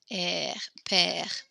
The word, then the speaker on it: père: Notice it looks like the word father in here, and it's pronounced the exact same. Père.